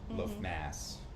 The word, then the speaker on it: Lughnasadh: Um But That would be weird to have the harvest the first harvest celebration like Lughnasadh, Lugh Mass as you say it's pronounced.